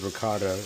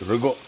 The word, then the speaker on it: ricotta: to convince you that the word ricotta, it's pronounced rigot. I mean, it would be if there was a G in it, but in the English language it isn't.